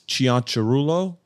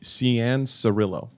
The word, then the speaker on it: Cianciarulo: Okay, so the Italian proper way to say it is Cianciarulo, but in America we say Cianciarulo.